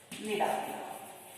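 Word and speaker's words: Cnidaria: So that Hydra belongs to phylum Nidaria. So here C is silent.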